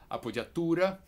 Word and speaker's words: appoggiatura: I can help it the name is a puja tour or even better a puja Torah it's an Italian name and I believe our